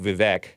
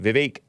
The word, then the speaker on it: Vivek: It looks like Vivek, but it's pronounced Vivek.